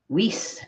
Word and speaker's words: Weiss: Weiss as in ice. Weiss is how you say it, as far as I know.